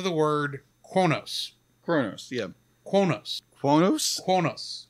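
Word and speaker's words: Qo'noS: got got to the word konos Kronos yeah quos quos quos it's that's right close to Kronos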